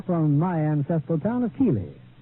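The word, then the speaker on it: Keighley: my ancestral town of Keeley well pronounced in England Keithley although how they made Keithley out of keig GLE y I'll never know but that is my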